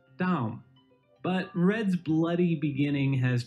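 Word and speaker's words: דם: For example, red in Hebrew looks like this, and it's pronounced Adom, while blood looks like this, and is pronounced Dam.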